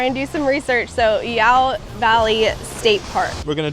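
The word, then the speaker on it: Iao: And someone online said it's like saying meow but without the M.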